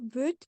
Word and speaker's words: bruit: euh, ça fait du bruit, So same thing here. The final letter isn't pronounced. We ah, would say bruit, bruit.